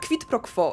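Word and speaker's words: quid pro quo: to się nam marnuje kwitpro quo Może wam się wyda wymowa dziwna ale to jest łacińska sentencja i tak poprawnie ta wymowa brzmi ta karta pomaga wam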